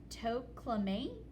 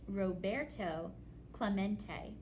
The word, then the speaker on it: Roberto Clemente: To Clement? It echoed in the near empty stands. Roberto Clemente was his name, and this is pronounced Roberto Clemente.